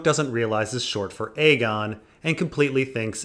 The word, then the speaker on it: Aegon: I've only heard Aegon and Aegon. The thing is, George actually did do his research here, but it's not that Aegon is pronounced like egg, it's that in Old English, egg also had the ash. So it was more like an ag.